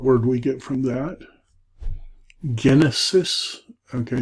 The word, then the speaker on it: Genesis: Genesis. Okay, notice this is a hard G.